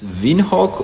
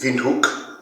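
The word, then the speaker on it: Windhoek: on the list is Vin Haw in Namibia I hope I pronounced that correctly but if you are from Namibia uh you pronounce that incorrectly it's Vin hook um and secondly why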